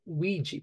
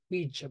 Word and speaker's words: Ouija: we and yah but we Americans say OU board while the British speaker says Ouija board tomato tomato interestingly the Ouiji board